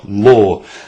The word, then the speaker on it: Lor: that's l o r law like lord without the d that's what hillary told